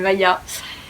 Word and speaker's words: Maja: Mon prénom ça s'écrit avec un j. Donc en gros je pense que si vous apprenez que je m'appelle Maya avec un j, bah vous vous dites directement que je m'appelle Maja. Mais non, je m'appelle Maya.